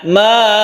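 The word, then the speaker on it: ماءً: Kita dengar kadang-kadang orang membaca disukun hamzah ya, ma, padahal ini bukan seperti itu cara membacanya. Cara membacanya yaitu dibaca mad iwad atau dipanjangkan. Fathaten yang ada di hamzah ini harus dipanjangkan ketika kita waqaf.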